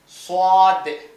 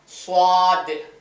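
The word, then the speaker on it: ص: சவாத் வாய் கொஞ்சம் கங்கமா படிக்கணும் இது சீமால்ல ஸ்வாத் வாய பாருங்க ஸ்வாத் பக்கத்துல அதே மாதிரிதான்.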